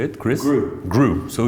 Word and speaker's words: Gru: the way how do you say it chris grew so it's gru okay chris and kyle you